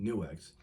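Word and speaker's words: Nu:X: new X or Nu it's Nu with the little spacer there with the X so I'm going to say it's pronounced newex my Plexi crunch which doesn't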